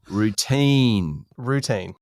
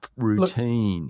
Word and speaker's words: routine: Routine. That's very close to a brouhaha already. Pronunciation, second syllable. Routine.